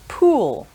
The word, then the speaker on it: pool: In English, we have a short sound and a long oo sound. Sometimes these get confused. So for example, two words with these two sounds in are pull with and pool with oo. So short and a long sound.